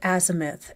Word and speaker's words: azimuth: He does it too with azimuth. It's azimuth. Like you don't have to overpronounce the I. It's just azimuth.